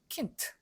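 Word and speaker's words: Kind: 킨트. 요거는 느라는 유성음이 단어 맨 끝에 나오면서 무성음화되는 그런 현상을 다시 보여드립니다. 킨트.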